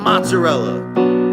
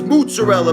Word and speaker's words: mozzarella: It's not mozzarella. It's mozzarella, baby.